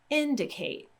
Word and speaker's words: indicate: out the syllables and when we have the word indicate Kate is our last syllable and then de is our middle syllable and then in is our first syllable so we have three syllables in the word if ate is at the end then we're going to go 2 in front of that and that's where we're going to put the stress indicate indicate so a